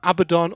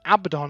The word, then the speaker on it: Abaddon: ones have we got abaddon or abaddon yeah i i think i think abaddon is the full kelly stamped version but both have been used tyranids when i was